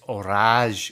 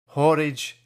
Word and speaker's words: Horage: rest of it it's or or hor horage has rhymes with porridge but actually it's or so I don't know